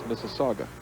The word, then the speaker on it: Mississauga: the people in ontario i hate to correct you mike but that's mississauga mississauga okay well i don't mind